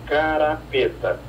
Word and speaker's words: carrapeta: Essa é uma carrapeta. E se sabe também que ela era pronunciada carapeta.